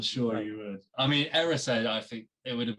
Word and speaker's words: Erised: So I've got Erised, and I've like written it down phonetically so that when I'm doing the phone note, I've remembered it's Erised.